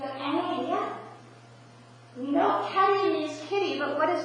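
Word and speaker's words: kedi: His name is Keddy. Everyone say Keddy. Keddy. Keddy. Keddy is spelled K-E-D-I. Keddy is the Turkish word for kitty. So you know some Turkish language already. Say Keddy. Keddy. You said kitty.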